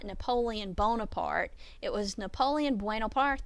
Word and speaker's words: Bonaparte: difference in that but Bonaparte is the french spelling and pronunciation of his name bueno parte is the